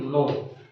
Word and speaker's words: know: जानने की इंग्लिश किसी को पता है, जानना की इंग्लिश होती है नो, KNOW, ठीक है। कुछ लोग उसको कनौ पढ़ते हैं, लेकिन वो कनौ नहीं पढ़ा जाता है, के साइलेंट होता है, ठीक है।